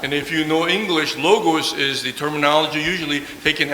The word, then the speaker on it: logos: So the word here in Greek is pronounced logos.